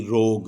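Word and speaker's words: rogue: H, high. اسی طرح جی یو ای اگر آخر یا شروع میں آ جائے تو یو ای کا علیحدہ سے یہ تلفظ نہیں ہوتا، یہ سائلنٹ ہوتے ہیں، آر او جی یو ای، روگ۔ اور یہ تین صورتیں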